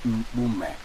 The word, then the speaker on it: Mpume: My name is Mpume. Look at even how it rhymes with your own name, Mpoloma.